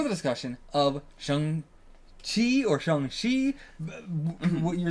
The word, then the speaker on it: Shang-Chi: What you're saying, when we pronounce it Chi, Shang-Chi, I don't know how to say it now, but he pronounces it Ji. Yeah. But either one would be fine then for that one, but Shang is how, close to Sean.